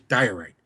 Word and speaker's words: diorite: It's pronounced in English diorite.